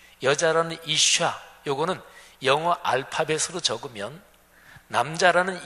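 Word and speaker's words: אִשָּׁה: 남자는 이쉬 이렇게 발음하고 여자는 이샤 이렇게 발음해요 지금 발음으로 들어서 아시겠지만 남자라는 이쉬 여자라는 이샤 요거는 영어 알파벳으로 적으면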